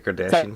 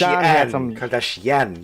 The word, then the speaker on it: Kardashian: isn't that what the Kardashian family is yeah I mean Kash kardashan you have to put the emphasis on the last syllable sorry is itard Kardashian